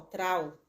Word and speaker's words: traho: Eu acho que se pronuncia assim, T-R-A-H-O, trao.